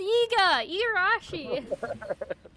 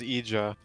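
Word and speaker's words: Igarashi: we won't tell ikea you don't even pronounce his name right it's iga irashi ah oh i thought it was eja oh you pay me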